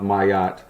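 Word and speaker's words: Maat: And it is actually pronounced Mayat, for what I know, shit.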